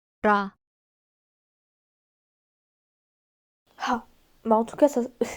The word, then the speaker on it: 라: Attention sur la romanisation, c'est un R, mais ils n'ont pas le son R comme nous et ça se rapproche plus d'un L. 라, Ha.